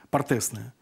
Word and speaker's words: партесное: А, кстати, вы понимаете, что вот разницу между там, я боюсь сейчас перепутать ударение, там, партосное пение, так оно называется? Партесное.